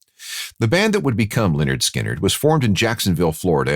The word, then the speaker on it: Lynyrd Skynyrd: studio their first album pronounced Leonard skinnard in 1973 sold a